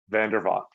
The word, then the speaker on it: Vandervalk: up how do you say your last name vanderbot okay cool all right and we are going